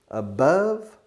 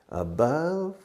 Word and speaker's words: above: Above, below. Above, below. Now listen, you Spanish people always make mistakes in your pronunciation of above. You say above and many other ways. Above rhymes, rima with love.